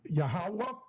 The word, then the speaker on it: Yahawah: is scribble scrabble to you silly ass Uh Yahweh I mean yahawah and not Yahweh if you can recognize nothing in this says Yahawah.